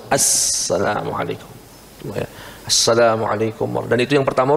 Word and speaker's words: Assalamualaikum: tidak kalau salat mesti Assalamualaikum enggak boleh Salamualaikum Assalamualaikum ya pakai alif lam tapi itu Alif lamnya Alif Lam Syamsiah sehingga alnya enggak terbaca langsung Assalamualaikum Assalamualaikum dan itu yang